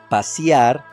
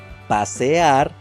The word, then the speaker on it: pasear: For some of you it must be completely normal to hear words like pasiar, lloriquiar, parquiar, patiar, peliar, saboriar, etc. But there is nothing more wrong than this! Since the correct pronunciation should be pasear, lloriquear, parquear, patear, pelear, saborear.